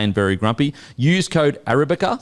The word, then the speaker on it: Arabica: Use code Arabica, so it's spelled differently to how it sounds, but ARABICA.